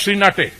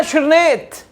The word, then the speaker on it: श्रीनेत: फटकार लगाते हुए कहा हरदीप पुरी जी नाम है सुप्रिया श्रीनेत अगली बार सही उच्चारण कीजिएगा घर है महाराजगंज उत्तर